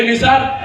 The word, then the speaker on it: Naseer: उन्होंने बोले ए निसार क्या ये डेली लेट हो रहे तुम? मैं बोला निसार नहीं मैम, नसीर।